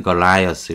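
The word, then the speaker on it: Goliath: 데이비드 앤 걸라이어스 이렇게 발음하죠.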